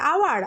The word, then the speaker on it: hour: যেমন দেখো HOUR, আওয়ার, আওয়ার মানে ঘন্টা, এখানে কিন্তু আওয়ার, আচ্ছা সরি, এটা আওয়ার হবে। তাহলে HOUR, আওয়ার, আওয়ার মানে ঘন্টা। এখানে দেখো এইচের উচ্চারণ না হয়ে ওর উচ্চারণ আমরা পাচ্ছি আ, তাই এখানে আওয়ারের আগে